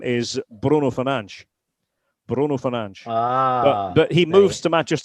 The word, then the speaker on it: Fernandes: Bruno Fernandes. Fernandes. So it's like a little soft SH on the end. It's actually quite easy.